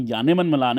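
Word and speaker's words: Janneman Malan: जानेमन मलान, actually जानेमन नहीं, इनका नाम यानेमन मलान है, जे को यह प्रोनाउंस करते हैं, साउथ अफ्रीका की जो कह सकते हो इंग्लिश में, तो वो यानेमन मलान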